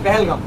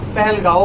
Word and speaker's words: পেহেলগাম: দরজা ঠিক আছে সে পেহেলগাম বানানটা কি হবে পি এ এইচ এল জি এম পি এচ এল জি এম পেহেলগাম পেহেলগাও বলে ঠিক আছে কোন ব্যাপার পেহেলগাম পেহেলগাম